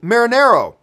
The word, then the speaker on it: Marinero: to thank you for trying to say my name last week like marinara, but with an O. Oh, marinero.